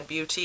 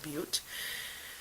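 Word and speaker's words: Beauté: Ace Beauty, but the beauty is spelt with an E at the end, and it's got a line above it, so I do believe it's beauty and not butte.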